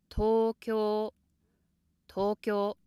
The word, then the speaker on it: 東京: The first two sounds here, ko and n, make up one long syllable instead of two. Because it's somewhat difficult to go up from the low pitch to the high pitch inside one syllable, such words are often, or I'd say rather normally, pronounced high from the start.